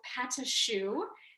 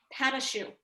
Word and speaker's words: pâte à choux: be making a specific kind of dough called pâte à choux. In French, it's spelled P-A-T-E and then A, I think with the funny mark over it, and then C-H-O-U-X, pâte à choux.